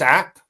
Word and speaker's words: Ap: well I'll just the the a in my name for a start of is is pronounced app app okay and it means son of it's a Welsh um